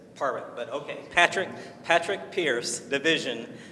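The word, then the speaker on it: Pádraig: Now the internet says Parwick, but if we're going to say Patrick, we're going to go with the U.S. pronunciation, but the Irish pronunciation is Parwick.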